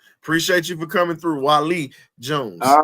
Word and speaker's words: Wali: My name is Wali, not Wally. Okay. Wali.